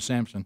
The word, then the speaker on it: Sansom: Or if you want to say it right, Emma Sampson.